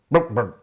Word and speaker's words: BlkBrd: Now this is the Luchador, from Indian boot brand BlkBrd, pronounced BlkBrd.